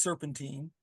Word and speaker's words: Serpentine: It's one of these things that people that live in the neighborhood, some of them pronounce it Serpentine, some Serpentine, but I got it from Brenda Locke. It's Serpentine.